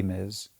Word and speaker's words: Ms: Two, if you are in a position to teach it, tell people why it should be miz.